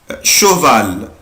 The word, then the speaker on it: cheval: يبقى انا دلوقتي استفدت يا ولاد، عرفت ان السي اش اما بتجيلي مع السي بعدها اش بنطقها ش. شا شيز شوكولا. مثال اخر بلاقي عندي برضو شوفال شوفال حصان.